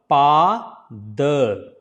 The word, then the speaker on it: Pada: So here it is a big sound because it is 2 times A, right? So it will be Pa. D will be pronounced as a D, not D. So don't say D, it's a the. So tongue between the teeth again. That is the correct way to produce exact sound. It's the.